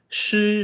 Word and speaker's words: 是: 是, shi, shi, shi, shi. The fourth tone.